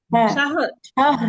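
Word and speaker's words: شهر: শাহর শাহর শাহর শাহর এই হা আর র এর মাখরাজটা নিয়ে আসেন তাহলে উচ্চারণটা ঠিক হবে।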